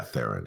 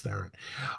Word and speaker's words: Theron: How do I pronounce this? Charlize Theron. Yeah, Theron. It's Theron.